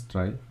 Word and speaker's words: trie: Okay, so let's understand try. We will do the, you can say, prefix. We'll use tree. You can. Okay, so try pronounced as try.